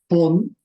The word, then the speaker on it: von: Now, von, Von. okay, so make sure you pronounce the V like an F, Von Yeah.